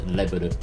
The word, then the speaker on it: レベル: So, level is just leburu.